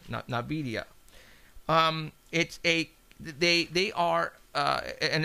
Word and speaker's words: NVIDIA: NVIDIA. They are. And it's spelled N as in Nancy, IVIDIA Corporation.